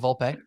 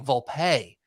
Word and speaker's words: Volpe: I learned familiar and they're saying Volpe Volpe Volpe and and uh the main guy John Boy right he's saying volpei volpei and I'm like wow that's really you know that's getting me don't love that don't love that until he finally said and yes I'm emphasizing the pay because that's how he said it's